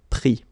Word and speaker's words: pris: Same thing here. Final S not pronounced, so prendre, pris.